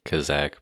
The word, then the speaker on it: Khazak: So like I said before the intro, we are joined on this episode by an author from Wowhead, Khazak, or is it pronounced Kazakh? It's usually pronounced Khazak, but I don't think